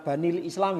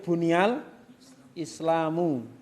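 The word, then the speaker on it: بني الإسلام: Buniyal Islamu ala khamsin, bukan dibaca banil Islam ya. Tapi bunyal Islamu. Bunyal Islamu ala khamsin. Qala nabiyyu dengan mentasdid ya. Qala nabiyyu dan mendomahnya sallallahu alaihi wasallam bunyal Islamu ala khamsin.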